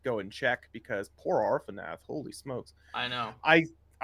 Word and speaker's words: Arfonath: How do you spell that? ARFONATH. Arfanath.